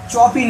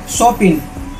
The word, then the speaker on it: Chopin: কে লিখছেন story of আওয়ার লিখছেন হচ্ছে কে চপিন নয় উচ্চারণটা হবে কি কে সপিন ঠিক আছে প্রনাউন্সিয়েশনটা কি হবে কেট সপিনযার জন্মগত